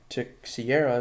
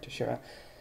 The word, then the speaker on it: Teixeira: Upside down, you have Mark Teixeira, like I like to pronounce his name, but it's Mark Teixeira.